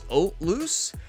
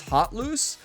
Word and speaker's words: Hauteluce: So in French, where that name originates, it's actually the H is silent and it's Hauteluce. But the English pronunciation, according to Google, is Hauteluce.